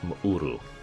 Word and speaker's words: M'uru: See, I'm programmed whenever I see an apostrophe in the middle of the name to make a significant break in the word, like M'uru, for example. M apostrophe U-R-U. M'uru is how that's supposed to be pronounced.